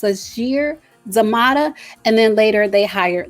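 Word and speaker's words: Sasheer Zamata: did hire comedians i believe her name is pronounced sashir zamada and then later they hired leslie jones who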